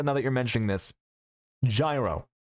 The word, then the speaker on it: gyro: you're mentioning this gyro, is it actually pronounced like Yuro? Is that correct or is that propaganda? Do we do we have any any gyro/o knowowers? Yes, it's Greek Um, Get the G out of there immediately.